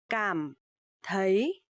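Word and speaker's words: cảm thấy: to enter come die come Thai to feel so here you will see the letter c you pronounce like letter uh K in English and uh t h you will pronounce like the term so okay okay so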